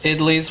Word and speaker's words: idli: My mom makes idlis, which is like a bread.